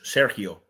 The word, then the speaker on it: Sergio: No, you don't pronounce it Gio like in Italian. So Okay. the G in Spanish is like an H. Sergio.